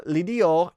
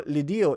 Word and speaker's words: Lidio: It's actually pronounced like Legio. I don't know. You can correct my pronunciation if it's wrong, but I think it's like they were saying like Legio. It kind of caught me off guard because it's a D.